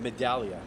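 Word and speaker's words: Medaglia: The G silent. Oh. Oh. Oh. Medallia. Oh, it's Medallia. Huh. Okay. It's a silent G.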